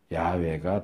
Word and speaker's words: 야훼: 그래서 우리가 개역에서 사용했던 여호와라는 이름은 이게 무지해서 만들어진 잘못 이름이고, 이제 원래는 정확한 발음은 모르지만 아마 야훼가 더 정확한 발음일 것이다.